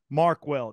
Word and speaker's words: Markwell: But look up David Markwell. It's spelled like it sounds.